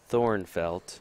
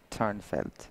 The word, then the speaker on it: Thornfelt: It's actually Thornfelt. No, it's not. It's Turnfelt. Is that how it's said? Yes. trust me. Turnfelt? Yes. It's spelled Thornfelt, right? Yes, but it's really pronounced, and I think it's just easier for Americans to do that.